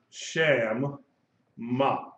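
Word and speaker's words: שַׁמָּה: hey and it's pronounced sham ma okay notice that the final head side remember hey when hey is at the end of the word it is silent unless it has a dot in it called a mapping not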